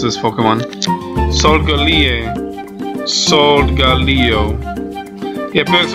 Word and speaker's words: Solgaleo: Oh my god, how do I pronounce this Pokemon? Solgaleo.